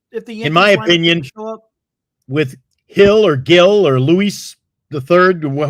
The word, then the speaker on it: Gil: tomorrow for the Yankees is it Gil or Hill I think it's Hill right I think I pronounce it Hill Gil it's I think it's pronounced Hill G I think it's Hill right I never heard him called hill before they have a hill but not a they don't have two Hills there's a hill and a hill Luis Hill it's I think it they pronounce it Hill okay everybody says Patrick